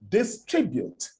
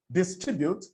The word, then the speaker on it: distribute: English and for them distribute, which is a word with a second syllable stress, would become distribute. They would bring all the tones in their first language into the use of English, giving each of the syllables in distribute a tone of his own. That's why you hear a Nigerian say distribute.